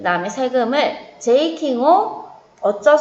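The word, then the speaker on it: 税金: 세금을 모르면 오카네라고 해도 상관은 없지만 세금은 우리 N3에 나오는 단어니까 제이킹이라고 발음해요. 새에 타금 붙고 이 붙여서 장음 제이킹.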